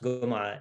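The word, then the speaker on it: Gomaa: um both karadawi and ali gomura and it's pronounced gomer because of the egyptian sort of uh g becoming a gir sound regime in egypt is usually not pronounced so ali gumara is a scholar who is particularly striking as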